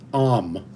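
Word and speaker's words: âme: soul for the French when the French say om om it is spelled a m e om so when you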